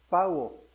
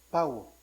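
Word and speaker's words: παύω: El término terminó en griego es pauo, P-A-U-O, pauo.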